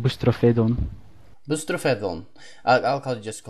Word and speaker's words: Boustrophedon: you say your name I'm not sure myself Greek but i pronounced it boosts trophy don't mr.